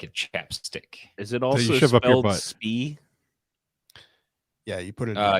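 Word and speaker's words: Spie: ChapStick is it all speed yeah you put it uh yes it is spelled s-p-i-e -spee I think this is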